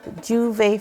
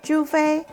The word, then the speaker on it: Jouvay: we have a group called juve fest collective and it's spelled j-o-u-v-a-y f-e-s-t and its mission is to